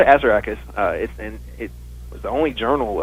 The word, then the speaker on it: Assaracus: Assaracus, or the actual pronunciation is Assaracus, but I wanted to put the emphasis on the first syllable for all kinds of reasons. But so we called it Assaracus.